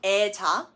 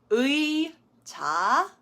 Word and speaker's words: 의자: So it's not 애자 or 애상. It does need to be said as 의자, 의상.